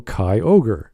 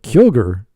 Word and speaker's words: Kyogre: like the germans but if you take those two vowels and separate them then you go kai ogre or put a dash in there or a hyphen rather then it makes sense but kyogre like that's like kiosk names don't do hyphens